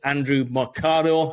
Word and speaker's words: Andrew Mercado: And today our guest is Andrew Mercado. Have I pronounced your name right there?